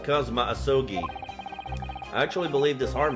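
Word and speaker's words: Kazuma Asogi: it's my best friend's name not mine he's pronounced kma asogi I actually believe this arm man that some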